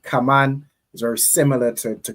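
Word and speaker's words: כמון: Kaman.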